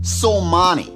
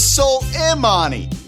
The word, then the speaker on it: Soleimani: you jim off imbecile you're mispronouncing it it's soul imani with intelligence like this